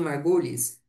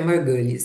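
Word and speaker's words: Margulis: As mitocôndrias e os cloroplastos, eh, segundo a a Lin Margulhes, ela, eh, a pronúncia correta é Margales, né?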